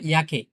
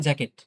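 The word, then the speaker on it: Jacke: Yacht for yacht for ইয়াকে। Yacht for ইয়াকে। ইয়াকে মানে জ্যাকেট। আমরা যেটাকে জ্যাকে, এটা যদি আমরা উচ্চারণ করি ইংলিশে অনেকটা জ্যাকে টাইপের হয়ে যায়। কিন্তু আসলে এটা ইয়াকে হবে।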